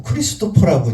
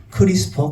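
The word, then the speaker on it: CRISPR: 왜냐면 예전에 1세대인 징크핑거라든가 2세대의 탈렌과 이제 비교되는 개념으로 크리스퍼 카스나인이라고 저희들이 설명을 드릴 수가 있겠는데 가끔 우스계수리로 자꾸 크리스토퍼라고 이제 어 발음하시는 분이 계신데 크리스퍼 카스이 되겠습니다.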